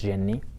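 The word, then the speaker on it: جني: called alcohol in arabic yeah it's the correct pronunciation for it it's jenny and jenny is just like people in this area the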